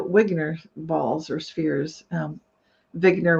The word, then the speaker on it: Wigner: balls or spheres um vigner would be the way Eugene vigner would have pronounced it and basically he was